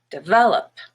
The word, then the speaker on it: develop: one is red but the first e is just a schwa de vel and then the op is up also schwa develop and then we have